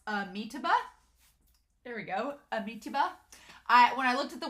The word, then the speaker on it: Amitabha: Anime Annie also explained to me how to pronounce Amitabha. There we go. Amitabha. When I looked at the word, I want to do Amitabha, which is not right. So Amitabha is how you pronounce the cultivator that uses